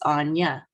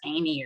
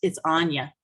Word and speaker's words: Anya: right up top there it's Anya that's a funny looking word I know from our American perspective we'd look at that and think that was Amy or Amia or something like that but it's Anya it's how you pronounce that name on the Indian art and so that's that's